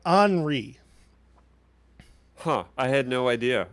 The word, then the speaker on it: Henri: the show it is it is spelled h-e-n-r-i and it is uh anri huh i had no